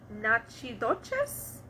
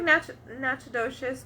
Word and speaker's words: Natchitoches: Having gained the confidence of some Caddo Indians, the French established a village near them called Nachidoches? It's like Natchitoches, but it's spelled with T's.